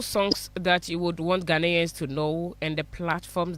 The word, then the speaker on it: Ghanaians: Well, honestly, I would like to say Ghanaians. Did I say it right? Ghanaians?